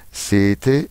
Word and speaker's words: sete: Deuxième remarque, en italien, les doubles consonnes se prononcent plus fort. Les doppie consonanti si pronunciano più forte. Exemple, sete, sette.